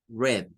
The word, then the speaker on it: read: ese que tener cuidado porque el verbo leer aunque se escribe igual no se pronuncia igual este es read Pero eso lo vamos a pronunciar como una e red como que fuera el color rojo red de I red